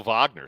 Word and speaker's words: Wagner: he's been getting the start everyone thought Mo Wagner was gonna get the mo Vagner sorry was gonna get the start but it's